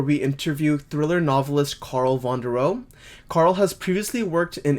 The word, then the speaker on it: Vonderau: So, it's my last name is it's Carl with a C and Vandereo is spelled V O N D E R A U.